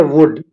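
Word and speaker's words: would: पर L silent है आ गया वुड वुड में भी एल साइलेंट है बट यहां पर लिखा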